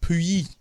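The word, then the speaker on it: Puyi: So I believe it's pronounced Pooey. Pooey. Maybe. Pooey. P-U-Y-I. Pooey.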